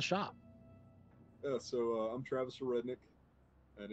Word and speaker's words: Aurednik: Yeah, so I'm Travis Aurednik, and it is pronounced Aurednik. So, of course, Redneck's been my name my entire life.